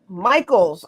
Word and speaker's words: Michels: Now, tell me before we get started, is it Kimmisha Michels? Kimmisha Michels. Michaels.